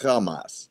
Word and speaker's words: Hamas: If you say it correctly, it's Hamas.